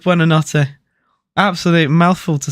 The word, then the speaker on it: Buonanotte: I just know it's pronounced Buonanotte.